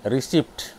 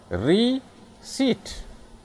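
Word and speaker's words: receipt: और है जिसको गलत से लोग बोलते हैं रिसिप्ट इस पर आओ की स्पेलिंग है आरएससीआईटी रिसिप्ट रिसिप्ट रोंग पोर्शन रिसिप्ट रोम रिसिप्ट लोंग तो सिर्फ प्रसन्न किया है रियर सीट रियर सीट कौन सी it's long Rishi it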